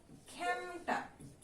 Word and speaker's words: খেমটা: তারপরে দেয়া আছে খেমটা, এটার উচ্চারণ আমরা করি কি? খেমটা।